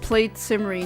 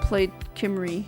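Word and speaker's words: Plaid Cymru: It's pronounced played simmery, not played Kimry.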